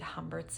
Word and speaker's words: Humbert: If we are to read Humbert's name, if we pronounce it the French way, which you would, considering that the character is from a French-speaking country. He's an immigrant in the US. It's, I don't want to butcher this, Humbert, which sounds like the word ombre for shadow.